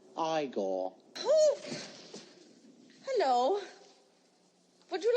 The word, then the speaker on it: Igor: no it's pronounced Frankenstein you must be eigor now it's pronounced igore hello would you like